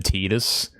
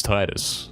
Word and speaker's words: Titus: You always call Titus is Titus cuz that sounds much better to you than Tetus. Nobody's ever said Tetus, right? It's Titus. Some guys simply want to